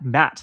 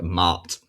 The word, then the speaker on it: Ma'at: It's not Matt. Like it's one syllable. Yeah, I I like elongate the A's. It's like Maat. Like make it posh.